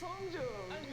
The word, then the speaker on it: Hongjoong: This is how they pronounce their names. My name is Seonghwa. My name is Hongjoong.